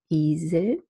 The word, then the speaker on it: Esel: Then there is a half-closed front vowel, which is represented by the word Esel.